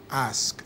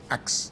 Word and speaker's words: ask: listen to people and they don't ask, they ax. Exactly. But somehow, isn't this because they hear axing all the time and they think axing is the right way to say it?